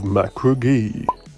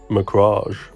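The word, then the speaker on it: Macragge: the ultramarines warriors of macra ghee i'm sorry i said it wrong again i meant mirage you're mocking me aren't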